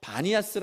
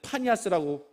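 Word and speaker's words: Banias: 팬의 재단이서 있었습니다 그래서 그 지역을 지금도 바니아스 아고 부르는데 원래는 파니아 얘기를 해야 맞는데요 그 사람들이 피읍 발음을 잘 못한대요 피읍 발음을 잘 못하니까 바니아스고 이야기를 한다고 그럽니다 그러니까 우상의 이름을 그대로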